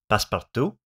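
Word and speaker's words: passe-partout: It's a fancy French word pronounced paspart. This is the region outside of our camera bounds which we can further gray out or make completely opaque.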